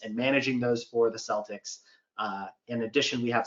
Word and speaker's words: Celtics: super into sports um uh they're not the celtics okay come on css get it right it's the celtics um you know that that really makes a